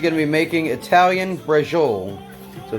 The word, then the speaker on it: Braciole: We're actually going to be making Italian Braciole. So it's spelled Braciole, B-R-A-C-I-O-L-E.